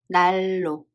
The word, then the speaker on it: 난로: By the way, the right pronunciation of this word is 날로. 날로. This is the rule. When 니은 and 리을 are followed each other, 니은 sound assimilates to 리을.